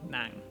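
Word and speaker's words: nặng: But basically, in Hanoi, it starts around mid-range and quickly lowers, while in Saigon, it starts low and mostly stays low.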